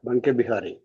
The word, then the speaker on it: Banke Bihari: how this name derived, Banke Bihari. So, Prabhu, as we know that in the North India, Va is pronounced as Ba. Ba. So, one means Ban. Banke Bihari.